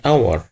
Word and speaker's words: hour: لكن في الكلمة التانية اور اور ما تنطقش، يبقى هنا صوت متحرك. يبقى الاولانية صوت ساكن، التانية صوت متحرك، a hat and hour.